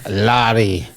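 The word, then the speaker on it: Laddie: the the classic lady the CH is silent by the way that's right the Rook Lottie it's just basically ich is E brook Larry so it's not like broke dick sorry dude that sounds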